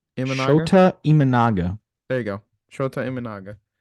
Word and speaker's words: Imanaga: is that that you say his name imaga sh imaga there you go sha imaga okay he's got